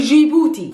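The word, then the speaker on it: جيبوتي: country is the country gibuti djibouti is simply djibouti in arabic a person that comes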